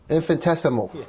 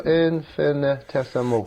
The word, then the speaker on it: infinitesimal: So I'll tell you what, those guys are anything, Kenny, but infinitesimal. Infinitesimal. It's 6 syllables, so infinitesimal.